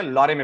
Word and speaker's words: Lorem: तो आप लॉरेम लिखते हैं, स्पेलिंग है LOREM, लॉरेम।